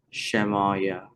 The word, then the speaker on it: Shemayah: Shemayah is pronounced shem-aw-yaw.